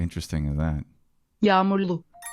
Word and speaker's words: Yağmurlu: Hava hem soğuk hem de yağmurlu. Kalın giyin. How is that word pronounced? How interesting is that? Yağmurlu. Yağmurlu.